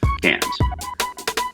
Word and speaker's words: Cairns: Yes, the Aussies pronounce it Cairns, where we hoped to have an opportunity to dive the Great Barrier Reef.